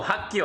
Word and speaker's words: 학교: Oh, hakyo, I mean.